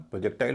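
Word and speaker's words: projectile: अब नियम क्या है? आई एल ई से पहले जो हिस्सा होगा सिलेबल होगा। उस पे स्ट्रेस होगा। आईएल से पहले क्या है? ई है। उसका उतना ए होगा। उसमें कोई डाउट नहीं है। लेकिन इससे पहले जो सिलेबल है जो वोवेल है वह हल्का बोला जाएगा। तो यहां पर भी पी आर ओ का उच्चारण प्रो ना हो के र हो जाएगा। बोला जाएगा प्रोजेक्टाइल। प्रोजेक्टाइल।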